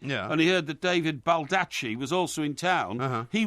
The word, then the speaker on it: Baldacci: Now, I was going to ask you, have you ever heard of an author called David Baldacci?